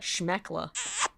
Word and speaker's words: schmeckle: SHMEKLE. I would pronounce that schmeckla.